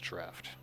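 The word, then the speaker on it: Draught: People reminding me that Drought is pronounced draft, which I have been made aware of.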